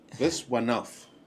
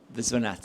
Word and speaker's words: Viswanath: Need to pronounce this correctly. Viswanath. Viswanath, yeah.